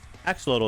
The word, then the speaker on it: axolotl: gonna be some new cave mobs and axolotl axolotl is how you say it that's right and